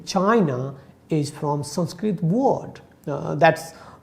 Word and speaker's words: Qin: to say that even if you say that chin one like in chinese it's written as q i n that is the chin dynasty but when we write